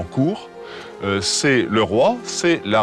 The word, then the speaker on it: Kore: Et pareillement, Corée, prononcé probablement court, c'est le roi, c'est la reine, c'est en fait le souverain.